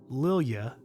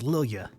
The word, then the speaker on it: Lilia: I want to read it as Miss Lilia, which that is it. There we go. I said it right. It's like Ilya, but it's Lilia.